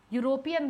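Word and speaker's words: European: इसीलिए जब कभी भी मैं यूरोपियन बोलती हूं तो मैं अ यूरोपियन वुमेन और अ यूरोपियन मेन जो भी होगा वो अ होगा क्योंकि इ से शुरू हो रहा है पर साउंड य का आ रहा है।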